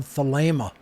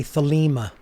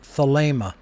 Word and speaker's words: Thelema: people out there say thilima i hear this all the time because they're pronouncing the second e the leima is spelled t t-h-e-l-e-m-a and in greek the second e is a long a sound if you write the